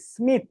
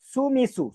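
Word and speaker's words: Smith: কি মাইক মিরা এরকম স্মিথটা এরকম উচ্চারণ হবে যে সুমিসু সুমিসু না বলে কি বলতে হবে স্মিথ স্মিথকে জাপানিজ অক্ষর দিয়ে যদি আমরা এটাকে লিখি তাহলে কি হয়?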